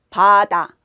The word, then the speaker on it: 바다: 파다 움직이죠. 파다 이렇게 움직여요. 바다 안 움직인단 말이죠.